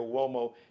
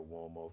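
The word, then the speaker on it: Uomo: collection Mario so wo it's not spelled with a W you think like what like wo no spelled with a u it's an Italian surname Mario m a r i o wo spelled u m o Mario wo and check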